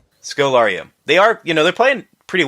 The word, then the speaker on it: Scodelario: And I do think it helps that the performers in here, Barry Pepper and Kylie, how you pronounce her last name? Scodelario.